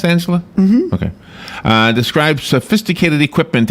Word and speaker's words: Angela: Is it pronounced Angela?